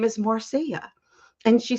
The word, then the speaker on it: Marcia: I'm like oh my goodness your name is Marcia and she said yeah and I said that's how you pronounce it and she said yeah and I